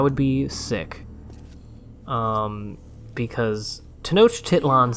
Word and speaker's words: Tenochtitlan: tohokan reminded me of what i am going to pronounce as uh tenochtitlan because that is the most recent pronunciation of the word t-e-n-o-c-h-t-i-t-l-a-n which i believe